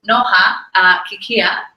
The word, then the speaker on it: Noha Kikhia: So now, as I said this, I'm going to introduce Noha Kikhia.